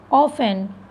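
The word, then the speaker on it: often: ठीक, ऑफन, ठीक है, क्या हो जाएगा, ऑफन।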